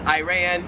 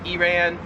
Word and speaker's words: Iran: Same thing for the next one, which is Iran, Iran.